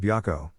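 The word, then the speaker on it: Byakko: The west is represented by someone called Byako, the Japanese pronunciation of white tiger, also pronounced Baihu in Chinese.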